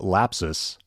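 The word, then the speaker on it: Lapsus$: me read this article south america-based hacking group lapses and that's spelled l-a-p-s-u-s dollar sign is threatening to disclose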